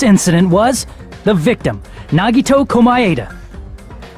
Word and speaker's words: Komaeda: The person who actually arranged this incident was the victim, Nagito Komaeda. Monokuma Ada. That's how you're supposed to pronounce his last name.